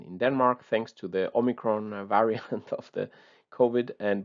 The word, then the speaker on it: omicron: umicron or something like it but the correct pronunciation is omicron all right let's forget about the languages now